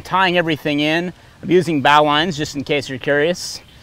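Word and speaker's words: bowline: loading up I'm tying everything in I'm using bow lines just in case you're curious and before you correct my pronunciation again on our not of the week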